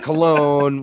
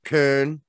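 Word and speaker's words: Köln: not from that region and then we've got cologne we've got kern it's not what's pronounced in germany and then we got rapid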